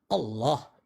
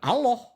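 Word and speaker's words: الله: alif Allah Allah itu ketika lamnya ada dua dan ada tanda tasdik maka lidah kita diletakkan ke langit-langit sebelah tengah Allah gitu cara pengucapannya ya bukan Allah Allah bukan itu hanya faktor dialek di daerah-daerah tertentu yang tidak mampu melafazkannya sesuai dengan makhrajal huruf nah persoalan itu muncul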